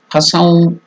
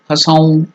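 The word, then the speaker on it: हसौः: Hasaum. So in English it is given as Hasoun. Nasal. Hasaum. Taking a red flower, it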